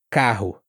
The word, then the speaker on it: carro: Esse R, ele ele tem um som parecido até com o do H no inglês americano, rato carro.